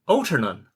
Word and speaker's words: Altarnun: Cornwall a few years ago now and they pronounced it they said, "Altarnun."